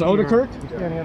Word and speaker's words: Odekirk: It is Odekirk? Is that how it's pronounced? Correct.